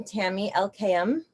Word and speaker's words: Tami Elkayam: relationships hello hello i wanted to welcome tammy elkayam did i say it right yes you did